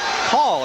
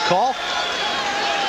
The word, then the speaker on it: Cahill: The officials for this evening's contest, Tommy Lopes, John McDonnell, and Daniel Call, it's pronounced, spelled as Cahill, pronounced as Call.